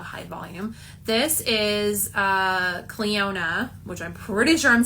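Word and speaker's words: Clionadh: It is so hard to say their name, y'all. You know this brand. We all know this brand. They have the gorgeous background. Um, I love their logo, but nobody knows how to say it. So, this is Cleona, which I did not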